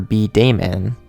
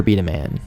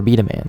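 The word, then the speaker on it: B-Daman: honestly it's B dash d-a-m-a-n at first I pronounced it super B Damon but I I had to look up the correct pronunciation and it's actually pronounced Super Beta man Super Beta man like that anyways I have no idea what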